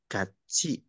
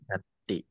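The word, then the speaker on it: 같이: gimana Gati gaci nah huruf t ketemu dengan vokal I maka dibacanya menjadi C ya gaci gaci bukan Gati Wang jingsi e coba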